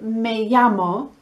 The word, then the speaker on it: me llamo: the h is silent and when you say me amo don't pronounce the double l as a y as